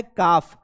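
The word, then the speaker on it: calf: होता है तो देखो एल is silent after the वोव ए क्य यू यानी कि ए के बाद या फिर य के बाद या फिर यू के बाद अगर एल आएगा है ना अगर इनके बाद एल आता है तो एल क्या हो जाएगा साइलेंट हो जाएगा यहां पर देखो पहला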